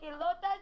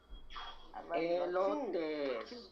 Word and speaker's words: elotes: You gonna make elotas? You gonna tell everybody I'm wrong about the elotas? Elotes. Learn how to pronounce it.